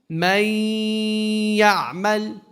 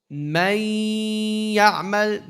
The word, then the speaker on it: من يعمل: So how do we do the merging? من يعمل. من يعمل. The meme goes straight to the what? To the ya. Do we have a nasalization? Yes.